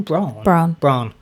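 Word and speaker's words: Brann: How do you say his name? Braun.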